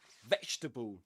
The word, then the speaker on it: vegetable: 3 syllables in both. Vegetable, comfortable.